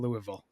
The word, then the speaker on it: Louisville: hate the city of Louisville oh the way they make it sa get there it's pronounced Louisville oh yeah Louis lisam